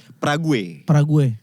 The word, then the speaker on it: Prague: Praha, oh itu ya. Praha. Kan tulisannya bukan Praha ya. Prague. Prague. Banyak Bacanya Prah, betul.